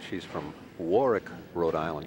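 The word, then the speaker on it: Warwick: I noticed you said she's from Warick, Rhode Island. You don't pronounce the middle W, huh?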